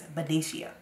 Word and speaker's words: Benicia: to this youtube find out like how you pronounce it again but it's venetia okay all right remember that so this is